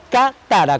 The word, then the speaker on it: Katara: Cuando termine el programa, si quieren pueden googlear Katara, con K de Haller, como se escribe mi nombre, Katara.